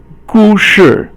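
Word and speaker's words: 故事: Okay, 故事. Okay, 故 is fourth tone, and 是 is 轻声, so it doesn't have a tone to it, and it's a story.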